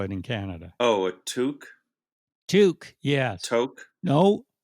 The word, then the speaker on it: toque: Oh, a toque, Toque.